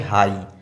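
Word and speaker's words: high: इसलिए ये जी एच जो है वो पूरा पूरा क्या हो गया? साइलेंट हो गया। इसको पढ़ेंगे हाई हाई पढ़ेंगे क्योंकि यहां पर देखिए ये वोवेल लेटर आया हुआ है जी एच के पहले।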